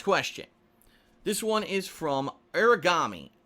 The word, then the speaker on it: Aragami: This one is from Aragami, excuse me, spelled with A-R-A, not origami, like the origami killer or anything like that.